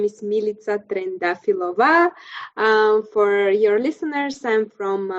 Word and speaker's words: Militsa Trendafilova: Yes, my name is Militsa Trendafilova.